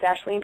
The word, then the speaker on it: Aisling: a hard name but it's pronounced ashleen you're saying it right thank you because people say wrong all the time but it's the first